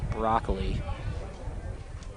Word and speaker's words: Broccoli: number 24, Kyle Broccoli. Steps in. You know, I was wondering exactly what the pronunciation was for Kyle. Sounds like it is broccoli. Like the vegetable.